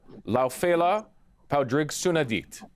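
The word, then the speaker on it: Lá Fhéile Pádraig sona duit: And if I may, if you'll permit my pronunciation here, Laufela Paudrig Sunadit.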